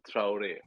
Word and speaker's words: Traore: the last name my friend how do you pronounce the last it's traure I was way off apologies apologies yeah it's